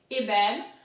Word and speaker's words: ébène: little bit complicated, it's ébène. So the first E is pronounced E because it's got an accent that goes this way.